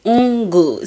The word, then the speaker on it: Ngur: Yes, that is the right pronunciation of the surname Ngur.